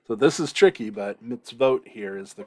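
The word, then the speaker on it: מִצְוֹת: hollom is the so this is tricky but mitzvot here is the correct pronunciation so teach your sons the mitzvot the commandments of the lord and zakar remember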